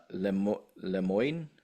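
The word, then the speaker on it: Le Moyne: Lemoyne, I believe it's pronounced Lemon, Lemoyne, LIU, Long Island.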